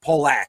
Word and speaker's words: Pollock: So if it's AJ Pollock, they will write Pole, like pole hyphen and then ack, Polak, something like along those lines.